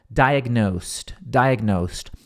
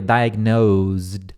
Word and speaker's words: diagnosed: Diagnosed, tem som de T aqui no final, então é diagnose com E. Esse S-E-D, ele soa como S-T, então diagnosed. Se eu bem me lembro, na pronúncia britânica dessa palavra aqui, diagnose, diagnosticar, dá para falar com Z também, então você falaria diagnosed, aí o som final ficaria de D, seria diagnosed.